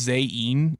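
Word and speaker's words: Zain: It's pronounced zen instead of.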